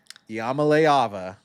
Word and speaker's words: Iamaleava: first ever de facto trade which was Nico Yamamaava. It's the last time I'm going to pronounce his name correctly.